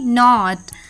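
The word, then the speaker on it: knot: जी एच T night के एन ओ टी नॉट के एन ओ बी नॉब के एन ए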